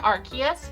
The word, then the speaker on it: Arceus: about and that is pokemon legends arceus or arceus or whatever you like to pronounce it i prefer arceus but that's just because i like that hard k sounds in there but it's